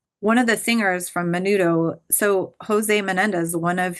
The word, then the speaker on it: Menudo: And then you have the Menudo. Is that how you say it? Menudo, yeah.